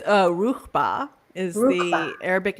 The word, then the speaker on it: Ruchbah: How do you pronounce that? The Ruchbahians? It's Ruchba is the Arabic name for the star.